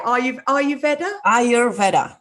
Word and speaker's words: Ayurveda: Ayurveda? Ayurveda. It comes from Ayur, which means life, and Veda, which means science. So it's the science of life. Ayurveda. You're an amazing practitioner of Ayurveda.